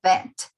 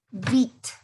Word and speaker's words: vet: Remember that the pronunciation of this job is vet. Sí, esta palabrita que tenemos aquí, veterinario, sería vet, no beat.